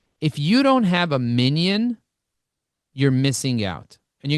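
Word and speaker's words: minyan: By the way, minion is spelled Y-A-N at the end, M-I-N-Y-A-N, but it's fine, minion.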